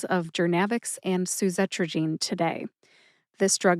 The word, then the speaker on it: Journavx: and Kelly was telling attendees, including myself, about Jernavix. When she found out about this podcast and the drug pronunciation series, she nominated Jernavix.